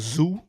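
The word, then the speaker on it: ZUU: He's got a new tape called Zoo. It's coming out. Z-U-U is how it's spelled.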